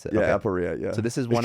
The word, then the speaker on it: aporia: That's how you pronounce it. Yeah, Aporia.